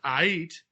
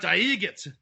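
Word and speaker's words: Aight: I'm Count Aigit. No, you're Count Ait. Aigit. He's pronouncing A-I-G-H-T as it really, looks. Aigit. No, it's Ait. Like everything's all right. Like everything's Ait.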